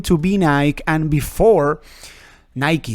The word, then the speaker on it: Nike: be nike and before nike sorry we say nike in spanish so nike is the correct way of pronouncing the name of this company and before starting it'll